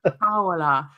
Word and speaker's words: Towler: There's more on that in the signing of I said Tyler again. Ryley Towler. More in that video. I used to have problems pronouncing the likes of Dan and Lundalu, but Ryley Towler.